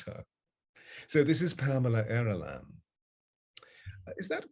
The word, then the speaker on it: Aaralyn: So this is Pamela Aaralyn. Is that correct pronunciation? Yes. Yeah, Aaralyn.